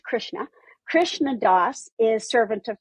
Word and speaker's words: Krishna: It's actually pronounced Krishna.